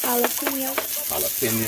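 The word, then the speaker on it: jalapeño: Jalapeno. Jalapeno. What's the difference? jalapeno. J is pronounced the H.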